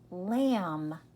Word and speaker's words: lamb: The B is silent.